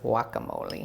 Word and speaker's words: guacamole: to this sandwich is guacamole or the true pronunce annunciation is whack Amole I'm gonna put two